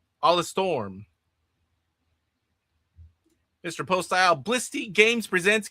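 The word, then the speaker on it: Alestorm: Stu says the pirate metal band is pronounced Alla Storm.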